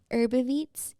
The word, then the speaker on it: Herbiveats: Herbaveets. Herbaveets. Yes, like herb and then IVEATS.